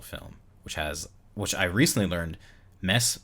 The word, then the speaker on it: Mads: And Another Round won Best International Film, which I recently learned Mess Mikkelsen is how you pronounce it, not Mads. I always thought it was Mads.